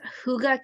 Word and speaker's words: Hygge: It's Huga Canyon, but Huga is spelled Hygge.